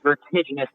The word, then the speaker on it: vertiginous: It's pronounced vertiginous.